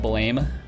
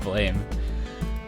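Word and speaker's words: Blame!: pretty good i've read the manga oh it's pronounced blam i thought it was pronounced blame anyways it's it's a good one it's a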